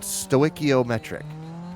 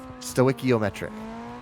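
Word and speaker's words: stoichiometric: So if you are balanced with the air pressure at 14.7 to1, you are what's called stoiciometric. S t oi, stoiciometric.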